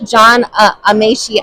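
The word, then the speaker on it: John Amaechi: That's John Amashi, I believe I'm pronouncing that correct.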